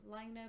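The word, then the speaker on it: Laine: and because they are in finland they do pronounce it lina which means wave but they are aware of the double meaning of course with french and len so the official answer is lagne but they said that they are happy for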